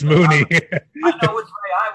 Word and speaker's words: Mooney: my bad yeah darnell money or mooney it's moony i know which way i would pronounce it though i would pronounce it money money boy but uh he did have 61